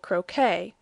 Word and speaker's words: croquet: And your pronunciation's okay when you correctly say croquet.